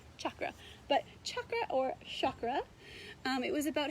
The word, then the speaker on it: chakra: Now we hear the word chakra a lot more commonly, but the Sanskrit pronunciation is chakra, like chocolate, but really they're interchangeable.